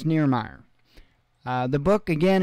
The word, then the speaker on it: Nirmaier: Nirmaier, and I hope I pronounced that correctly. I'd asked him just to make sure that I was getting the right way to say it, or at least close. So I believe it's Nirmaier.